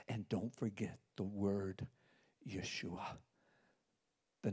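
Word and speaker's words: ישוע: Yud Shin Wa Ayin. You can almost hear Yeshua.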